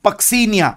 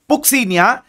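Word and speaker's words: Puccinia: Okay, and ये जो last में आपको दिख रहा है इसका नाम है पक्सीनिया। सी the pronunciation is नॉट पुक्सीनिया, it's called as पक्सीनिया। एंड पक्सीनिया is responsible for causing a disease called rust, इसलिए उसको रस्ट फंगस भी कहते हैं।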